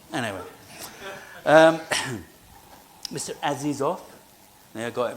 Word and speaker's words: Azizov: your name to Frank cuz they had to spell it every time. It was I went, "Oh, not." Anyway, um Mr. Aziz off, I got it right.